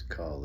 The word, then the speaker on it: Kuhl: can call me Cull if you'd like. Uh, I don't have to be the coolest person in the room. I was just born with that name. It's German, it's spelled Kuhl.